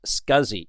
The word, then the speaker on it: SCSI: system interface or SCSI which is actually pronounced scuzzy in the world of technology and scuzzy has been